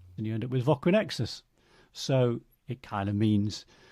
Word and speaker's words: Voquinexus: Well, Voquinexus is Voquinexus, it's four.